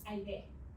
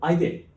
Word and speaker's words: Aide: Aide. It pronounced like I and they. Aide. Oh, Aide.